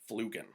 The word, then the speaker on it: Flüggen: Zarley Zalapsky is Lars Flugen. Flugen is a German beach volleyball player. When I heard his name in the Olympics, all I could do was say it like Hadouken.